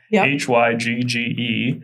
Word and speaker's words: Hygge: You've told me a little bit about the concept of Hygge h y g g e. Hygge, that's not how it phonetically is, but what is it?